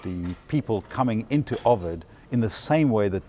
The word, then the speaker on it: Ovid: I do you want to get back to ovid in a minute it's pronounced Ovid not overt it depends okay either soca English got it